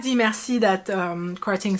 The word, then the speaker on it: merci: Here I do like the merci that Krating says. Merci. He did pronounce the R, which not a lot of people have.